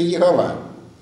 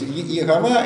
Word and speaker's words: Иегова: Но если буквы, обозначающие это имя, произнести с этими неправильными гласными, то получится Иегова. Понятно? То есть Иегова это возникло в Европе в средние века.